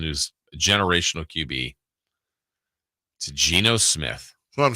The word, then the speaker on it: Geno: Geno Smith, I pronounce it Geno.